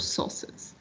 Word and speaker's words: sauce: put it the pronunciation remember that a and u it's going to sound like an o according so we're going to say sauce you can serve it